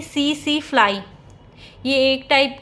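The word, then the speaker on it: tsetse: vector क्या होता है सी सी फ्लाई होता है इसके अंदर टी है वो साइलेंट होता है फिर इसका थर्ड टाइप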